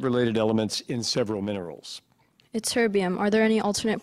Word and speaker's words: ytterbium: Ytterbium. Are there any alternate pronunciations? No. Ytterbium.